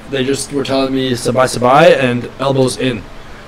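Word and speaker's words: สบาย: They have like sabai is how you say relax in Thai.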